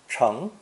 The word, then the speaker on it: 成: The character is pronounced second tone, cheng, cheng.